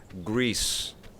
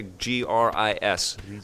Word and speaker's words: Gris: your question from last show the game is pronounced grease grease okay gr is I was pronouncing it Gris and he's saying